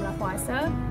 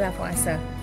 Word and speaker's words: Lavoisier: oleh atau dikemukakan oleh lavase jadi bacanya lafaz Raya Nah suku Kekekalan